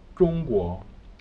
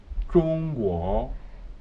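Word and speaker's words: 中国: That initial ZH pronunciation forms the spelling of the initial ZHONG for the spelling for the country China, okay? So I say Zhongguo. Most people don't get it at first because, you know, we are used to the CH pronunciation. That's the closest that we can, you know, relate to that one, okay?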